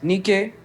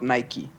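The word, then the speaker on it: Niké: So, um, her name is Nik, not Nike. So, it's spelled exactly like Nike, but it's Nik. It's called Nik. Yeah. How you confusing her? So, it's Nik with with the little accent on top, not Nike.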